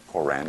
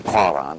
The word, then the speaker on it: Koran: the codex and scriptures k-o-r-a-n quran as opposed to quran or quran and get all down in the throat chakra there in their pronunciation